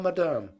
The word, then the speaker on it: madame: said be seated please i will tell madame putting the accent on the second syllable where peter had never heard it before and presently here came